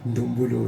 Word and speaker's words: ndombolo: Alors vous avez un style différent de la rumba, de ndombolo, s'il faut dire comme ça, c'est pas si je prononce bien. Si vous prononcez bien ndombolo, oui.